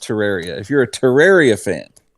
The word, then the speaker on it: Terraria: a terraria or terraria i'm sorry i've always called it terraria it's properly pronounced terraria if you're a terraria